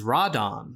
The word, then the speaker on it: Radon: As you can see from the Japanese poster and how the monster's name is pronounced in the original movie, its actual name is Radon, a shortened form of pteranodon.